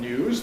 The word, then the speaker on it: news: Americans overwhelmingly say news rather than news.